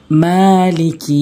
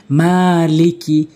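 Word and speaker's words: مالك: হবে আর রহমানির রাহিম মালিকি ইয়াওমিদ্দিন মিম খারা জবর মা এক আলিফ টেনে বলতে হবে মা লাম জের লি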